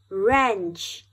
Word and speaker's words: wrench: rest very good let's do it again er wrench w-r-e-n-c-h wrench wrench rap w-r-a-p rap er rap